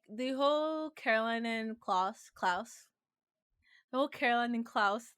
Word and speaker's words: Klaus: I'm gonna say his name wrong again. Klaus.